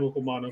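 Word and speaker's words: Okuayinonu: Okuwanu.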